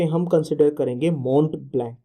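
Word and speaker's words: Mont Blanc: है, माउंट ब्लैंक को, basically spelled as मो ब्लैंक, ठीक है। तो माउंट ब्लैंक, ठीक है, आई am just using the simple pronunciation, not द मो ब्लैंक, ठीक है।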